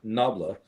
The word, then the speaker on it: nabla: So this mathematical symbol, the symbol itself is pronounced nabla. Nabla is a Greek word, or an ancient Greek word, I think, for harp.